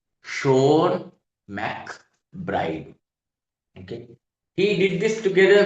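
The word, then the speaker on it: Seán MacBride: But we actually pronounced his name Sha McBride. Sha Macbride.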